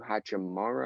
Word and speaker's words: Hachimura: Ryu Hachimura, I believe is how you pronounce that.